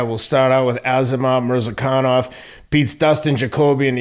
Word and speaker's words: Murzakanov: And the undefeated, explosive how do you pronounce it? Murzakanov. Murzakanov.